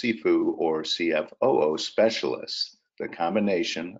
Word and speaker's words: CFOO: Finance Outsourcing or csfo and see sifu or pronounced sifu or CFO Specialists the combination of CFO and